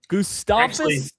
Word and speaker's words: Gustavus: Gustavus. It's actually Gustavus. It's actually Gustavus Adolphus. That's not how it's not how it's pronounced.